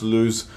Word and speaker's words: Lu: to how to pronounce Lyu's name. And the way that I, and correct me if I'm wrong, is that it's not Lyu like Luigi, it's Lyu like, it's Lyu like Lewis.